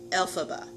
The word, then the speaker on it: Elphaba: efforts uh and then you start to pronounce the last name BOM ba so you kind of take those sounds and letters and put them together Elsa ba Elphaba so that's the name